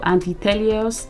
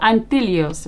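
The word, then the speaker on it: Anthelios: invisible liquid it's also antios anti anos anelos my goodness I've been pronouncing the word wrong this whole time so antillos right okay so I have the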